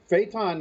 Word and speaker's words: Phaeton: i pronounce it right is it phaeton or phyton phaeton is the way i've always pronounced it all right all right